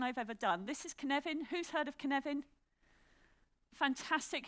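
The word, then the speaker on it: Cynefin: Say the word Kevin to me. Like Kevin Costner, say Kevin. Put an N in it, say Kenevin. Well, now you can pronounce it.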